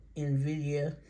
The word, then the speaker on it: Nvidia: on now this one I mess up the pronunciation I go I hear other people messing it up too but I call it Nvidia and I hope that's right but may not